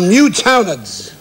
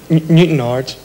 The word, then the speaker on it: Newtownards: Colin Kennedy from Newtownards. You don't pronounce it like that. Newtownards.